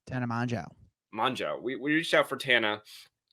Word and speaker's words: Mongeau: Mongeau.